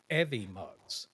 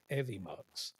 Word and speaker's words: Evmux: some videos earlier, learning about stuff, and it's actually called Evimux. Is how you say it. It's EVMUX. Evimux.